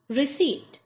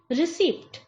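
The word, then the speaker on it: receipt: किया जाता है कुंभ कुंभ गलत उच्चारण इसका उच्चारण चुक चुक ा नई दिल्ली एक्सप्रेस ऋषि कभी भी आप कोई चीज लेते हैं वजह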